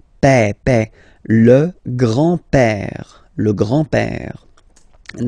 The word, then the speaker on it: père: Remember, E accent grave like that. It's this opened E. Père.